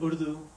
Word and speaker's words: Urdu: Urdu.